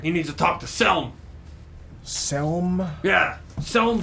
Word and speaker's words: Selm: ah all right he needs to talk to selm selm yeah selm brawn fellow can you spell that s-e-l-m rom-fill b-r-o-u-n and there's he inside